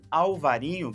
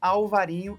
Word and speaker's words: Alvarinho: e a albarin ou alvarinho porque é a mesma uva tá pessoal a albarin é a pronúncia dela em espanhol alvarinho em português e como ela é